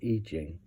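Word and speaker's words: I Ching: No, this isn't Ichihing, or sorry, it's spelled Ichihing, it's pronounced Ichihing.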